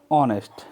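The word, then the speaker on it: honest: तो automatically sound हो गई ऑनेस्ट. H is silent. Okay, तो इट इज कॉल्ड ऑनेस्ट.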